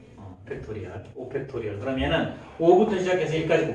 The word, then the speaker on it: 팩토리얼: 자, 뭐 고등학교에서 배우는 거지만 5하고 이렇게 느낌표 하나 적고 얘를 뭐라고 읽냐면 팩토리 아니고 팩토리얼이라고 읽어. 팩토리얼, 5팩토리얼.